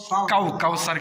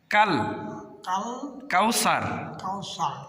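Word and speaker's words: الكوثر: কাউ কাউসার কেন? কাউ হবে না, কাল কাল কাউসার। কাল কাউসার। কাল বলেন, কাল কাউসার।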